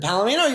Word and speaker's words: Palomino: is the gentleman's club is it Palamino the Palomino you got it palino okay you read